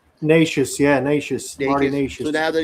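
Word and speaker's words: Nečas: Nacious, Marty Nacious.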